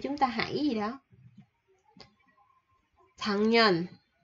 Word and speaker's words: 작년: 작년, 작년. Chỗ này mình sẽ đọc là chữ G, 작년.